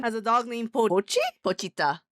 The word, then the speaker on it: Pochita: Pochita. Pochita. I always want to say Pucci. It's because it rhymes with Kuchi and it's the JoJo villain of Stone Ocean.